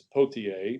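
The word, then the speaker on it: Pothier: depends how you print you can pronounce it different ways uh in socket it comes to pronounce pottier but it's pottier p-o-t-h-i-e-r he becomes governor of rhode island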